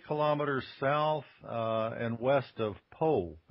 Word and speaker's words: Pau: Well, I'm actually 20 kilometers south and west of Po, which I used to call Pau until I learned better.